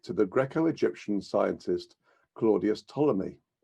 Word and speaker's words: Ptolemy: the Greco-Egyptian scientist Claudius Ptolemy. The P is silent, as in a swimming pool.